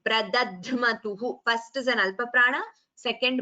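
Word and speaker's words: प्रदध्मतुः: Look at this word, Pradadhmatuhu, the Alpaprana, followed by the Mahaprana. So that should be very clearly differentiated. Pradadhmatuhu, first is an Alpaprana, second Mahaprana, this is a Sanyuktakshara.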